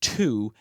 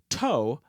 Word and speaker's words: two: But today, we don't pronounce the word as toe, but as to.